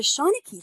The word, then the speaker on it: Seanchai: So the Seanchai Library, and that's how you pronounce it, Seanchai, created the Dickens Project in